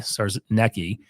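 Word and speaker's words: Czarnecki: there's a new CEO Christopher SARS Nei I think is that how you say it but you're gonna closer than now yeah CZ a r NE C Ki SARS necki and you know this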